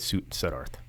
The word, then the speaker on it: Suddarth: But who is Nate Suddarth? Suddarth? No, Suddarth. Suddarth. Yeah. Okay, I pronounced it right the first time.